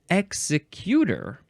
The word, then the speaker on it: executor: And it looks like in the first definition, you would pronounce it executor.